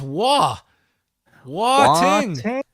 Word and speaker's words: Wai Ting: That's how Nick Gage pronounces your name. It's Wai Ting.